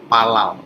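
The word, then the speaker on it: פלל: Jadi PL itu dibacanya menjadi palal, seperti ini.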